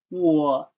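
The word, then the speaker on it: 我: yourself my name is in chinese and pronounced as war my name is notice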